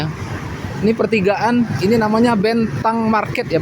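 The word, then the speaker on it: Bến Thành: Ini namanya Bentang Market ya. Bacanya tulisannya bentan tapi bacanya bentang.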